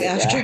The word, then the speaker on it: SAG-AFTRA: Like if they accept work from SAG-AFTRA, like SAG-AFTRA, that's how you can pronounce SAG-AFTRA.